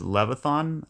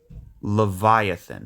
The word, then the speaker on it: Leviathan: this guy right here I think the way you pronounce it is Levon Levon Theta Levon or actually no it's I think it's Leviathan Theta Leviathan my bad that's is that's how you pronounce it Leviathan it's some mystical monster